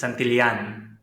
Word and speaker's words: Santillan: It's Santillan.